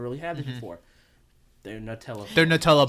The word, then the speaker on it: Nutella: older than that but Nutella has only been I mean they've always had h on spreads but yeah Nutella or Nutella as it's actually supposed to be pronounced some people it's n